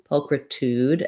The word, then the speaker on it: pulchritude: who's asking okay so first syllable stress po we have a schwa um sounds like uh um so paul kr this letter i is the same kind of like in christmas or is pulchritude and then that ooh